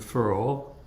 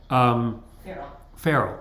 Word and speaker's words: ferrule: If you leave it to dry up there in the furrow, or however you pronounce it, ferrule. Sorry, thank you, Ann.